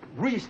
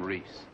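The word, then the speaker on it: Reis: How do you spell that name, Reese? What does it matter? R-E-I-S. Reese. In German, that is pronounced Rice.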